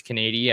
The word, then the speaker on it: Canady: trying to figure out how to say his name but we were pretty sure it's Kady I saw a broadcast